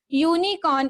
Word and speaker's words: unicorn: So here unicorn is making the sound of u.